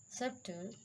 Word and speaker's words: subtle: Rule number 2, B is usually not pronounced before the letter T. Just like doubt. B is silent here, doubtful. Subtle, debt.